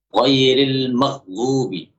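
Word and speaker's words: غَيْرِ الْمَغْضُوبِ: Ghairil maghdubi. Harusnya dibuat mengalir. Kalau pengucapan ghainnya tidak mengalir, maka suaranya akan mirip dengan qaf. Karena qaf sifatnya tidak mengalir.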